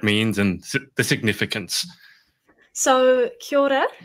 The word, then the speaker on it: kia ora: and the significance so kia ora it's sort of like a rolled r is how i describe the trick to pronouncing it um we generally use